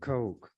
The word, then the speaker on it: Koch: who has that as a name Coke some cook others cotch but the CES pronounce it Coke this article was written or published October the